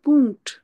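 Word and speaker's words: Punkt: যার মানে কিভাবে বলে ডট কম আমরা বলি না ডট কম এখানে হবে পুংট ডট কে জার্ম মানে কি বলে পুংট আর যদি কারো ইমেইল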